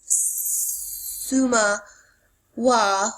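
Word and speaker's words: Sumukhwa: a leader of Korea's Suma Wa, or Oriental ink movement of the 1980s, and I'll spell that for you, S-U-M-U-K-H-W-A. Sumawaka is the Korean pronunciation for the Chinese word ink wash painting, also called literate painting.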